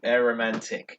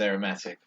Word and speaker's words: Aromantic: with their song that I mispronounced in the Meat and Metal video because of dyslexia, but it's called Aromantic. Whereas I thought it was Aromatic.